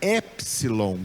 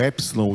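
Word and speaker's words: ἔψιλον: A gente em português usa a pronúncia do P, epsilon, mas lá na Grécia eles não usam essa pronúncia, eles falam a letra epsilon, epsilon.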